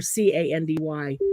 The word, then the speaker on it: Kandi: Oh, You just have to because spell it's it. a K and ends K-A-N-D-I. with, it's Yeah, candy.